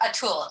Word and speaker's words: Atul: I think it's pronounced Atul, A-T-U-L.